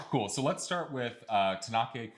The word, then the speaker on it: Tαnakɛ: So we would tend to say like Tnakɛ at the end, that kind of sound, but it's just Tnakɛ. So it's a lot more like Italian if you've ever sung in Italian before, or Latin.